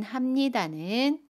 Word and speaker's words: 합니다: 동사 하다에 비읍니다를 붙인 합니다는 합니다 라고 발음해요. 받침 비읍을 미음으로 발음합니다.